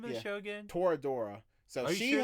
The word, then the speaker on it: Toradora: 'Cause I'm thinking I've heard some, but are you sure it's not like Tordoro? No, it's not that.